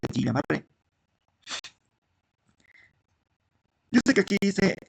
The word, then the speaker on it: Guillain-Barré: El síndrome de Guillain-Barré, aquí dice Guillain-Barré, pero se pronuncia Guillain-Barré.